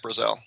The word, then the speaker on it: Brazel: for me right now is it Brazzle Brazil how do you say how do you say Max's last name I've heard it both way is Brazil or Brazil I've heard Brazil more than anything actually family yeah M brazelle brazelle okay that just throws